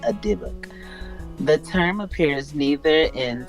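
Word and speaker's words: dybbuk: debug, That's how it's pronounced. Yibik. Oh, Dibuk.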